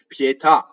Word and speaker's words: pietà: cheetah pietà de pity pietà right so you have the truncated ah at the end so the the accent is on the last syllable ultimate accent right so these words